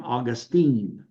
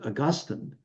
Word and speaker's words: Augustine: of Hippo and we don't pronounce his name Austine we pronounce it Augustine uh does that mean that Dr Ross's views